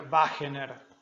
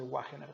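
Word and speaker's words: Wegener: Se escribe con W. Ahí está, sería Wagener, o nosotros vamos a decirle Wagener, pero bueno, ahí está.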